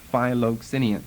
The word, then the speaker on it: Philoxenian: And we will do them in that order, beginning with Philoxenian. Basically spelled like it sounds, Philoxenian.